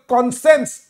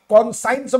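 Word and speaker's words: conscience: गोटे डिस्पैरिटी करबा अनकंसेनेबल कॉन्सेंस ए वर्डटा मन रख कॉन्सेंस लेखा ब स्पेलिंग साइंस भलिया कॉन्साइंस बोली प्रोनाउंस करबो नाही आई साइलेंट एडी हला कॉन्सेंस माने विवेक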